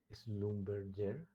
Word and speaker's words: Schlumberger: De modo que cuando yo pongo este arreglo, que es el Schlumberger, parece que el hombre es francés, por eso esa pronunciación, más que alemán, Schlumberger.